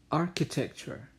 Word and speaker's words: architecture: So the correct pronunciation is vegetable. Vegetable. Next. Comfortable. Comfortable. Bukan comfortable. Salah. Comfortable. Okay, next, architecture, architecture, bukan architecture, itu salah, yang benar, architecture.